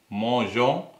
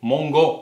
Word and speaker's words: mangeons: manges, il mange, elle mange, on mange, nous mangeons, vous mangez, il mange, elle mange என்று சொல்லி வரவன். ஆனால் வந்து பாருங்க, நூலை வந்து நாங்கள் வளமையாக எழுதுவது போல எழுதினோம் என்று சொன்னால் நாங்கள் நூ மோங்கோ என்று சொல்லித்தான் நாங்கள் அதை உச்சரிப்போம்.